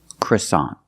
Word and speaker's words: croissant: and I bought a in American English we do not say that's French in English American English we say croissant croissant the first vowel is a short sound uh CR CR CR CR CR CR CR the second syllable is a like hot and stop so together CA croissant croissant is the American pronunciation of this word we